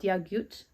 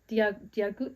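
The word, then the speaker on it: Dia duit: I think it's called Diagut. Diagut, something like that. It sounds like it's pronounced with a G, but it's spelled with a D, which is throwing me off. And then the other two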